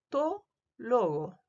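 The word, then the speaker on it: τῷ λόγῳ: Eh, Cuando está en dativo, yo digo to logo, con la iota suscrita que yo la puedo leer, pero no la digo, no se pronuncia.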